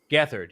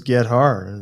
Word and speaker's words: Gethard: chris gathers just like is that how you say his name gathered yeah man i figured it was get harder all the time listen